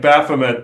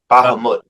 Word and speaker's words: Bahamut: in reality as well so I kept saying baffet to them they're like no no no bah they were correct it's it's spelled b a m u t Bahamut Bahamut okay yeah they're saying